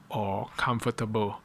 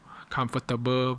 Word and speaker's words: comfortable: Normally a native speaker pronounce the ble at the end like bo, but a lot of Malaysian, I think, especially the Chinese, like to say stable or comfortable. Comfortable versus comfortable, stable versus stable.